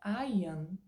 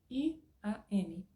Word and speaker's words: Ian: palavra pronunciado como i o nome Ian não é aan i a n Ian então como eu sei